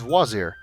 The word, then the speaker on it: Vizier: And that's how Al-Hazred became Vizier, which for some reason everybody pronounces Wazir. I'm not entirely sure why.